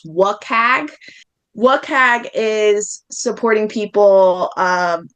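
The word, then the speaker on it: WCAG: That acronym is frequently pronounced WAG.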